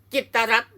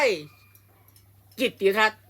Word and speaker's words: กิตติ์รัฐ: นี้ แล้ว ไป อ่าน จิตรัตน์ ได้ ยัง ไง อย่าง งี้ อ่าน ได้ คำ เดียว ว่า จิต รั จิต รั จิต รั จิต รั ก็ ต้อง อ่าน ว่า จิต รัต เท่า นั้น ไม่ ใช่ จิตติรัตน์ ไม่ ใช่ จิตต รัต